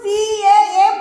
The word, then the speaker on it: calf: তারপরে দেখো কাপ CALF, এল এর উচ্চারণটা হবে না, শুধু CAF বলবো।